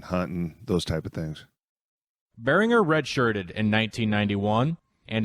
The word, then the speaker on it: Berringer: or a lot of people still today they call him behringer you know so i looked at that roster i thought i got to find out how you pronounce it and so i knew was bearing her all the way but um you know